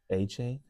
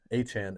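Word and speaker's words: Achane: We've been pronouncing that incorrectly this entire time. Achain. Achan is how you pronounce it.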